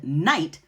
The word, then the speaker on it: night: Lamb has a silent B, and night has a silent GH.